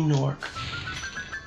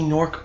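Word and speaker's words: Gnorc: he is everyone nasty nork right this should be the rest of the gems Nat no naming words that have g in it but they don't pronounce the g yep that's all the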